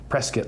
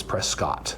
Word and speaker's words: Prescott: And so to distinguish themselves from the British, they adopted another pronunciation, Prescuit. And like we like to say here, Prescuit like a biscuit versus Prescott.